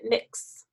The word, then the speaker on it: Mx: And, well, there might be different ways to pronounce it. Like maybe we could pronounce it mix.